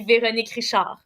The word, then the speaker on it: Veronique Richard: But if I pronounce it in my accent, it would be Veronique Richard.